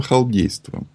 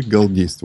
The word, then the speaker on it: галдейства: А это вообще основа халдейства. Или галдейства, правильно говорить. Потому что галдеть...